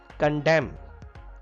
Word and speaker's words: condemn: Condemn. N is silent here.